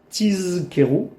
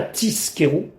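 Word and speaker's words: תזכרו: Il faut bien prononcer le zain tizkeru et pas tiskeru.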